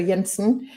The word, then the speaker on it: Jensen: It's um Yensen um pronounced in the Danish way with um Y sound. So, Yensen and her teenage apprentice